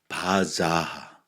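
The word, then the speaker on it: בזה: 바자하 바자가 아니라 자하 하발음이 들어 있어.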